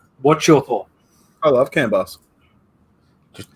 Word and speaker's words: CAN bus: that's helpful but yeah canvas what's your thought i love canbus just just note clear pronunciation on that one canvas not cannabis or you want to say it properly can bus yeah which